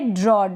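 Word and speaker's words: draw: practice करें next है ड्रॉ डी आर को ड्र पढ़ते हैं डी आर को ड्र और ए डब्लू को ऑ ड्रॉ ड्रॉ का मतलब चित्र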